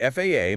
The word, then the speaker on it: FAA: And FAA must be spelled out letter by letter.